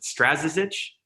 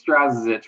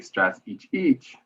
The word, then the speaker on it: Strazicich: last name i don't know if i've ever pronounced to write or i have every single time is it strazza's itch it's strazzich my croatian brethren would not be happy on